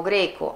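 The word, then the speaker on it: grecque: Però, perché il QU si leggeva K, la E non si sente, quindi la pronuncia è uguale.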